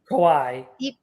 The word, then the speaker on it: Kawhi: So the return they got is defensible, but losing how do you say it? Kawhi. Kahi. You have to call him Kahi.